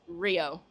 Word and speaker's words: Rhio: Um Instagram and Twitter, both Rio, Rhio, Oo wrestler, and it's pronounced Rio.